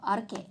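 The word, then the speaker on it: arche: 아르케 A-R-C-H-E 아르케라고 불리는 건데 고대 그리스어로 아르케라고 읽는 이 단어는 만물이 도대체 자연이 무엇으로 구성되어 있는가에 대한 것으로서 만물의 구성 요소를 말해.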